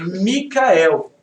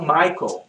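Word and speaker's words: מיכאל: É Micael no original em hebraico. Em inglês eles falam Michael. É o Michael Jackson. E são 3 sílabas esse nome.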